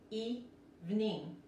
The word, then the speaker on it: evening: Aquí en este caso, los dos I se pronuncian como la I de español. Evening. Y la G no se pronuncia.